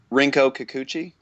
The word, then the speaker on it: Rinko Kikuchi: With can someone pronounce her name, because I don't want to mess it up? Rinko Kikuchi.